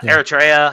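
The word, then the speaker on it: Eritrea: But yeah, um the nationals of Afghanistan, Myanmar, Chad, Congo, uh Guinea, uh um uh how do you say Iritria? Iraa. Yeah. Eratraa, Haiti, Iran, Libya, Somalia, Sudan, and Yemen.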